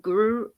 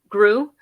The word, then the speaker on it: Gru: minions the rise of guru gru right yeah uh i don't know why i wanted to say guru i was trying to add an extra syllable that did not exist in there uh that the thor